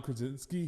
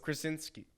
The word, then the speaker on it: Krasinski: It's with John Krasinski. He directed it, and it's his wife Emily Blunt. What's his last name? How do you pronounce John Krasinski.